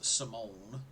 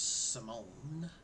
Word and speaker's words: Simone: is simon just print just spelled with an e but that dude is simone to me and i will say his name exactly like the the girl in pee-wee's big adventure it's simone what's really good is